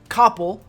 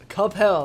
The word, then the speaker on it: Coppell: capel it's not pronounced coppell okay it's cup hell that's how you pronounce it all right uh 25